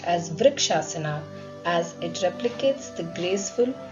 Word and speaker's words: Vrikshasana: This balancing posture is pronounced as Vrikshasana as it replicates the graceful, steady stance of a tree and improves stability in the legs.